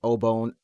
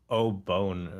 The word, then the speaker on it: Obon: The way that you pronounce it made it sound like Obone or something.